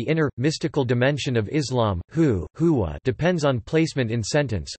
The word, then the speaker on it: Hu: The sound hu derives from the last letter of the word Allah, which is read as Allahu when in the middle of a sentence.